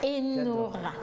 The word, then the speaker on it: Enora: Enora s'écrit E-N-O-R-A.